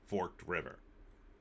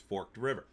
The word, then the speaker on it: Forked River: I am not, because I already read this article, and it is Forked River. It's not forked with a T. It's Forked River.